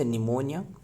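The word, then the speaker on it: pneumonia: What is the bacteria name cause निमोनिया। निमोनिया का spelling है पिनेमोनिया। पिनेमोनिया। निमोनिया।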